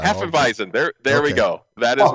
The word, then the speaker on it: Hefeweizen: Hafenweisen? Could be. I don't know. I'm not familiar with it. I don't know that one. Well, it's Hefeweizen is a German style. Hefeweizen.